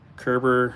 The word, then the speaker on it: Kerber: oh a e x Kerber like Gerber with a K perfect so if you